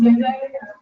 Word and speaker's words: Yende: and my last name is pronounced Yende. Yen like the currency and the day like happy day, it's the dinner.